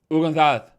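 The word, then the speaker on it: Hugo González: Can I help you pronounce Hugo Gonzalez? Ugonzalez. Yeah, I can. There you go. That's how you do it.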